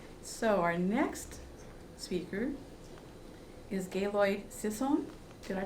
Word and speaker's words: Gaylord Sisson: So our next speaker is Gaylord Sisson. Did I pronounce that correctly?